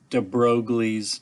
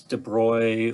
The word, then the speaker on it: de Broglie: going to totally butcher de broglie's name he's french so it's de bruy or however the french might pronounce that i say de broglie which a lot of people do but he came along and